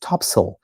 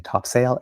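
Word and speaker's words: Topsail: in the middle called Topsale Road pronounced topsil. So there we go. Gentle correction on myself. I've been saying top sail and it's topsil.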